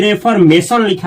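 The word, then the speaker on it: reformational: आगे देखिए, इसी से बना है, इसको क्या पढ़ेंगे, रे से पढ़ेंगे इसका उच्चारण, रेफॉर्मेशनल। गलत, इसको पढ़ेंगे रिफॉर्मेशनल।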